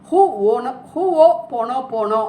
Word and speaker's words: Ho'oponopono: ஹோ ஓ போனோ போனோ, அதை ப்ரொனவுன்ஸ் பண்ணுறது இப்படி தான் சொல்லணும்.